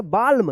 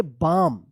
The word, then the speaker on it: balm: ठीक है, चलिए अब यहाँ पे देखिए BALM, क्या पढ़ेंगे इसको, इसको पढ़ेंगे बाल्म, नहीं, इसको पढ़ेंगे बाम, BLAM, बाम। यहाँ पे भी एल का उच्चारण नहीं हो रहा है।